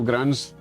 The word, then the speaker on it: Grande: Grande, as opposed to Grandee, you know?